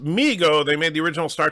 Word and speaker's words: Mego: It's pronounced Mego.